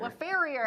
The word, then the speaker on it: LeFeuvre: Later, LeFeuvre LeFeuvre LeFeuvre.